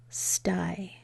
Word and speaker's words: sty: it and say it y makes a long I when it's at the end of a one-syllable word so that word is St I stye a pig stye Pig